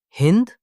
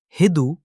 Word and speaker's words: Hindu: But in the Persian language, they pronounced it slightly differently. They called the region Hind, Hindu, or Hindu.